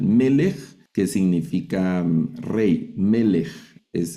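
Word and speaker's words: מֶלֶךְ: Son la misma vocal en las dos sílabas. Y este es un segol, que estos suenan e. Esa es vocal. Es la misma vocal. ¿Verdad? Y esta palabra se lee melej, ese sonido de J al final.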